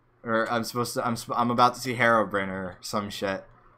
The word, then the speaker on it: Herobrine: How dare you pronounce him Herobrine? That's how you say it. That's how the guy who made the game says it. It's the Swedish way of saying it.